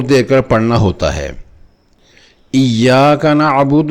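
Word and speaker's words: إياك: نعبد و ایاک نستعین۔ اگر اسی حرف یا مشددہ کو نبر سے نہ پڑھیں تو ایسے لگتا ہے کہ یا ساکنہ پڑھی ہے لمبی کر کے، ایاک، جو کہ غلط تلفظ ہے۔ صحیح تلفظ ایاک، ایاک، یعنی کہ زور دے کر پڑھنا ہے۔ اسی قاعدہ کا دوسرا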